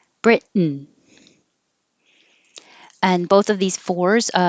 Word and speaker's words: Britain: Americans don't pronounce the T here. They just make the tongue go to the T position. Britain, Britain.